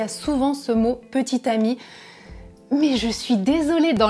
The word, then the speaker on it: petit ami: dernier c'est petit ami petit ami et petites amies même prononciation petit ami petite amie mais dans tous les